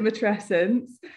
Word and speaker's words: matrescence: I pronounce it matrescence.